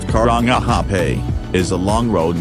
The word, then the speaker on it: Karangahape: them out six currently hydro current hype pronounced Karangahape a is a long road with a long